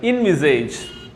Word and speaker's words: envisage: നമ്മൾ ഇന്ന് പഠിക്കാൻ പോകുന്ന രണ്ടാമത്തെ വാക്കാണ് ഇൻവിസേജ്. ഇൻവിസേജ്, ഇൻവിസേജ്, ENVISAGE. We pronounce it as ഇൻവിസേജ്.